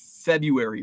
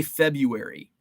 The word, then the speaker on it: February: Feb you see ice I pronounce February wrong I I I say February I leave the r out February the first r February Feb see February